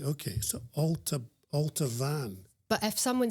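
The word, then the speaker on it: Altabhaine: So again, the temptation is to say ultan, but it's alt van. Alteran b is a right. Okay. So alter alt van.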